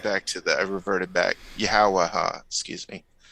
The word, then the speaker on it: Yahawashi: I just went on about pronunciation, and I went back to I reverted back. Yahawashi, excuse me.